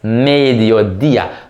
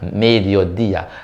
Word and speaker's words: mediodía: Es mediodía. Notice the accent on the I. So you not on the first one, not on the dio, but the dia. Mediodía.